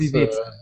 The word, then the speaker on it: Gliwice: to pronounce, is it Gliwice? Gliwice, yes. Gliwice. It's with W read like V. Yeah, I knew the W, but I didn't know that. I didn't know how to do the last part. Gliwice.